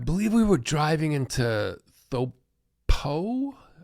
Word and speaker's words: Taupo: We were in New Zealand at, I believe we were driving into Thopo, it looks like Taupo. I think they pronounce it Thopo, New Zealand.